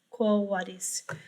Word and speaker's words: quo vadis: So, and since it has nothing really to do with church Latin, I use the classical pronunciation, quo vadis.